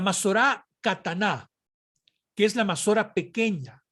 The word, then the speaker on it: Masorá: Bien, ahora hay que hablar brevemente a manera de introducir acerca de la Masora del texto hebreo, o la Masorá, pronunciarlo correctamente, como resultado de las disposiciones rabínicas de este periodo.